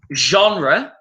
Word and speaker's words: genre: Type can be a synonym of the words genre, which is the French word, but we use it in English. Genre, that's that French pronunciation.